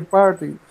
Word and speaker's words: party: Aquí la T es como muda, ¿cierto? En esta pronunciación de esta palabra, party. Prácticamente como que la T fuera muda, party. Pero good.